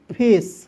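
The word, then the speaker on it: face: उसके बाद एफ ए सी ई तो एफ का फ ठीक है एफ का क्या हो जाएगा दोस्तों फ ए सी ई का उच्चारण दोस्तों एस के रूप में करते हैं ठीक है फेस अब ये भी समझ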